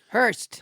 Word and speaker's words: Horst: Hurst. Horst. Not Horst. Not Horst. Spelled Horst, pronounced Hurst.